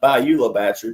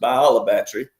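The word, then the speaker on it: Bayou La Batre: U my seventh great-grandfather named and discovered it's it looks like Bula Battery, but it's by it's pronounced Bolabatry.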